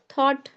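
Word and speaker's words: thought: light light L light बस यही हो गया जी एच साइलेंट हो गया थॉट थॉट में जी एच साइलेंट है थ्रू क्योंकि वोवेल के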